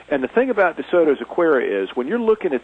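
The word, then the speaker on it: Acuera: Saying Aquera is spelled A-C-U-E-R-A.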